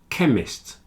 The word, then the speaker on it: chemist: stomach ache architect and chemist they have a CH which is pronounced like a k stomach a stomach a